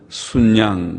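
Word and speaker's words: 숫양: 속죄 제물을 삼고 순양으로, 수양이라고 쓰지만은 표준말은 시옷받침을 붙인다고 했습니다. 수가 뒤에 모음자가 오면 시옷받침을 붙이라. 우리 국어 문법에 그래 어렵죠. 국어 문법에 그렇게 되어 있습니다. 그래서 수에다가 시옷받침을 붙이고 발음은 순양, 그렇게 해야 표준말이라고 합니다.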